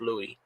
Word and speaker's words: Lewis: didn't realize that oh we called him Lewis because we thought that spelling was Lewis but then we found out it's actually pronounced Louie oh so you know